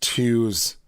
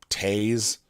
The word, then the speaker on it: Toews: Oh yeah, it's pronounced twos. It's spelt toes, Toews, but I've heard it tays, but twos makes sense too.